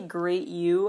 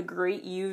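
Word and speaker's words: Gr8U: next video basically was well I say great you honestly some people say it differently it's spelled gr R number eight letter U but great youu that video starts with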